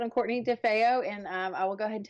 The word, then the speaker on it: DeFeo: okay so we're so excited to have Courtney DeFeo is that how you say it we got